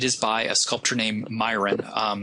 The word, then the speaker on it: Myron: by a sculptor named Myron. Sometimes it's pronounced Miron, depending on who your teacher is.